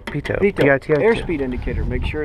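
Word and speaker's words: pitot: yep looks clear uh pilot tube P French p o t you don't pronounce the last T oh I'm sorry you're right PTO air speed indicator make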